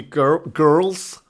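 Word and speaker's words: Gurls: Number 4, California Girls. Not girls, girls, because it's spelled with a U, by Katy Perry.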